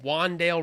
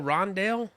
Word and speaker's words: Rondale: for the arizona car wandale rondale wandale rondale wow i was about to say that wandale sounds like a little kid in arizona rooting for rondale who just can't pronounce it yet and he's like